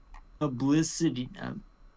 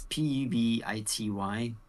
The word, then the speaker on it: Pubity: Publicity. I can't pronounce it. It's Pubity.